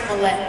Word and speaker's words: Mallette: mine yes yes you got it right it's pronounced Mallette though you ready oh so close all right